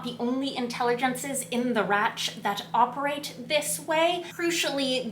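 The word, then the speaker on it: Radch: a Sci-Fi space Empire called the ratch it's spelled r-a-d-c-h and the protagonist Breck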